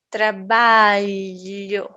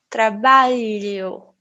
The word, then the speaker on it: trabalho: representado por este símbolo ele não existe também no inglês então o mais parecido seriam as tuas palavras milho brilhante certo por exemplo eu vou falar E aí eu escolha trabalho talhação certo às vezes ele parece o som de L I então eu posso falar um pouco como alho escolhia trabalho palhaço Ok se você não